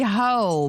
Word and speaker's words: Heaux: Nicki Minaj understandably suing this blogger and podcaster known as Nosy Ho, but Ho is spelled Heaux.